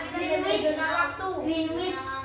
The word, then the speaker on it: Greenwich: Greenwich. Greenwich. Greenwich. Bukan Greenwich. Greenwich. Greenwich. Greenwich.